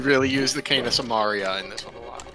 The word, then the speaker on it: Samaria: You bring the cane of Somalia to my lair. Die. Somalia. Sumaria. Samaria.